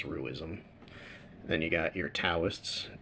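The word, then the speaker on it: Taoists: Then you got your tauists, Dowists, if you prefer that pronunciation.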